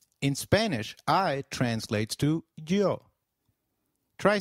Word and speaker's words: yo: noos and no SAS the Y is pronounced like the English Y in some areas sounding just as it would in English while in others it